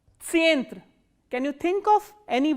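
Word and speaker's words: центр: And how will you pronounce this word? Tsyentr. Tsyentr.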